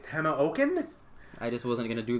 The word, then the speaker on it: Tamoachan: back again hidden shrine of Timon Chan or however you pronounce it apparently it's Tana oaken I just wasn't gonna